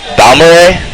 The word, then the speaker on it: Balmorhea: Balmorhea?